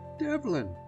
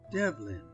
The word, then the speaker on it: Devlin: Develin, said he. Dev what? I gasped. Lynn, said he. Develin.